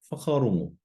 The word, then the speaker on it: whakarongo: Going over a few more examples, how would you pronounce the following? Kōrero, kōrero. Whakarongo, whakarongo.